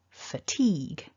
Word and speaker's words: fatigue: mark that's strong but if you look at the first syllable we've got that schwa vowel which tends to be